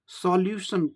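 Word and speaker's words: solution: अब यहाँ देखें, एक और बात देख लें, सॉल्यूशन लोग बोलते हैं, सॉ ऑन होता है, ऑ होता है, सॉल्यूशन, सॉल्यूशंस, सॉल्यूशंस, सॉल्यूशंस, ऐसे उच्चारण करना चाहिए।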